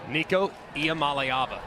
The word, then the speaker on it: Nico Iamaleava: And can you pronounce Nico's name for me again? Nico Iamaleava.